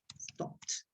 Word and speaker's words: stopped: and everything is stopped be careful with eb's stopped eddy must be pronounced like a t stopped yeah okay the rest